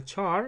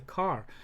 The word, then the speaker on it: char: char char our car some people pronounce it a char and some people pronounce it as a car so car example is